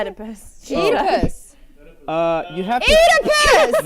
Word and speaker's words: Oedipus: You must correct your pronunciation of Oedipus. Oedipus. Not You literally eat. just said eat a puss.